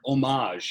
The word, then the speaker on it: homage: the exact word their homage and you without the H pronounced right yeah homage homage it's that's so crazy